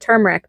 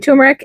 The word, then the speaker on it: turmeric: video it's funny cuz I always said turmeric because that's the way it was spelled but then I always heard people saying turmeric so I decided that maybe I was saying it wrong so I started saying tumeric and it's probably a habit that's going to die hard now but however